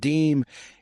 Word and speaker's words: dime: The first official 5-cent coin issued by the United States was a half dime, pronounced deem, in 1792.